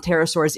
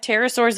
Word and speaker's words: pterosaurs: Pterosaurs is spelled with a P.